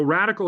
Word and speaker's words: RDCL: So Radical is spelled, as you pointed out earlier, it's just RDCL. We've dropped the vowels, right?